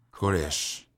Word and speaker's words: Koresh: En hebreo, Ciro, rey de Persia, se pronuncia Koresh.